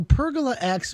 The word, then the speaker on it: Pergola X: So for everyone who's listening, so Pergola X by Structure, is that the right way to say it? Yeah, that's correct.